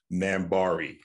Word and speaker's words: NAMBARII: How do you pronounce it? NAMBARII, just like you said it.